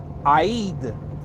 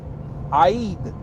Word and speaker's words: Eid: At the end of Ramadan, the celebration is called Eid. Eid. And Fanat. Listen, Eid, I-E-D. I know I ain't spelling it right, but that's the phonetic spelling of the celebration at the end.